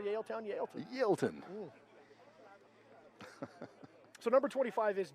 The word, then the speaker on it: Yaletown: And I believe it's pronounced Yaleton. That's how I say it. Am I saying it wrong? Yaleton.